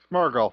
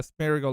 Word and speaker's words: Smeargle: Smurgle. Smeargle. Yeah, yeah. Yeah. I was close. So he looks like more of those Pokemon that look like a painter. From the Smeargle line or something.